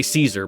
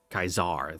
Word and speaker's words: Caesar: kaiser no no i was gonna say caesar but that's that's the anglo-sized pronunciation let me i gotta go into my fallout new vegas mode away true to kaiser kaizar there we go kaiser